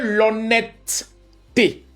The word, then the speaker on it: honnêteté: pour montrer qu'en vrai la bonne prononciation selon la base qui est la phonétique, c'est l'honnêteté. Je n'ai pas dit l'honnêteté, je dis l'honnêtet parce que le e qui se trouve entre les deux t est un e muet.